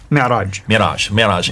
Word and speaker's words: Mi'raj: That's called the Mi'raj. How do you say it? Mi'raj.